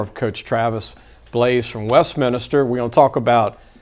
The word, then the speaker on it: Westminster: back to travis blaise the head coach of west minster you know i didn't pronounce it right jace told me that no